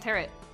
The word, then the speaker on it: tarot: Did you say tarot like carrot? Yeah, because it's pronounced tarot.